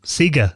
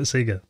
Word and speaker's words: Sega: Yeah, my school, we used to say Sega instead of Sega, until the Hedgehog came around. Yeah, which I think they still do in Australia, they still call it Sega.